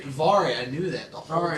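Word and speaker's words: Daivari: You can go and pronounce that cuz I have no idea who the that is. Davari. Davari.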